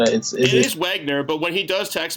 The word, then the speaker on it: Wagner: Yeah, his last name is hard to I don't know how to spell it or say. It is Wagner, but when he does text me and it comes through my car, it says Wiener.